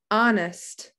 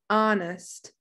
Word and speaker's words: honest: we don't say knuckle honest honest now we don't hear that h it's not honest it's